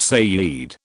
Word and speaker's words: Said: My aunt began seeing a Muslim man from Jerusalem named Said, pronounced Sayyid.